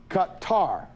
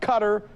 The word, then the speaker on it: Qatar: Our RT Arabic correspondent Ahmed Al-Hazim said the correct pronunciation is Qatar. Qatar, not cutter, not Qatar, but Qatar. Accent syllable as in cutting the tar.